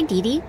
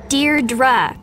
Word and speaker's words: Deirdre: sonnet or something hi didi Deirdre I know it's got that tricky second syllable but I figured it